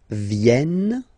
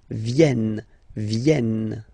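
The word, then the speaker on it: viennent: the last one here so you've got this double n just after the uh so it will change a little bit your pronunciation you will have to pronounce this like e e okay ven so remember this classic ending n for the third person of the plural is here but phonetically doesn't exist so you don't pronounce it venen okay elen all right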